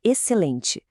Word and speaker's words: excelente: O XC, por exemplo, vira um som só, um som de S. E o N, no final ele cria aquele som nazalado, sabe?